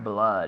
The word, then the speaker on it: blood: Blood. It's almost like it's an A.